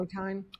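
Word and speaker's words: Ottine: don't know the pronunciation Oteen, O'Tain? I I call it Oteen but maybe it's Ot- O'Tain, O'Tain, E'Tain? I don't know. O'Tain. O T T I N E.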